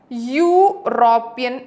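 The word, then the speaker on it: European: പക്ഷെ അതിന്റെ ഉച്ചാരണം ഇയുടെ ഉച്ചാരണത്തിലല്ല വരുന്നത്. എങ്ങനെയാണ്? യൂറോപ്യൻ എന്നാണ് വരുന്നത്.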